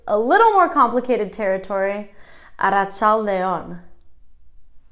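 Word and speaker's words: arratsalde on: we're getting into a little more complicated territory at a child a on about child a on okay stick with me because to say good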